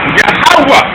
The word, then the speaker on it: Yahawah: Yahawah, which is Yahawah. The last H is silent.